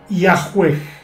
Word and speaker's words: Yahvé: establecerse aún con exactitud los eruditos modernos conjeturan que originalmente se pronunciaba y a juez Aunque en estos tiempos